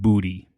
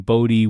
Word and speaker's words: Bodie: He wanted people to make sure that they pronounced the name correctly and not Booty. Oh, you know, so they they gave the town the name Bodie with a with an IE.